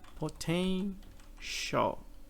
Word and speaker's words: potential: Ele tem um som de sh. Potential.